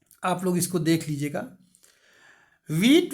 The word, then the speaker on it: Wiete: वीट वेस्टरहॉफ की spelling है WIETE, वीट पढ़ लो या वाइटे पढ़ लो, VESTERHOF।